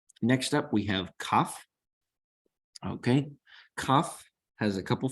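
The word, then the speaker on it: כף: So with the dot, it is K as in kitty. Without the dagesh, the dot here, it is Ch as in Bach.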